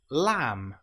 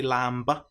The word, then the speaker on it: lamb: An example might be lamb or comb. Here we don't pronounce the B, we don't say lamb, it's just lamb or comb. The B is totally silent.